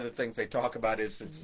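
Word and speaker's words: aos sí: people that knew Irish lore were uh the isi it's spelled a os si and shei which is this is spelled s i d h e.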